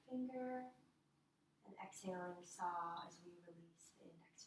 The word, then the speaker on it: Sau: And as we exhale, we mentally chant Sa, which is spelled S-A-U, but it's pronounced S-A-W.